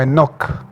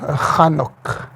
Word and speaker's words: Hanok: Este hombre pues se puso en la traducción como Enoch, sí, pero es Hanok.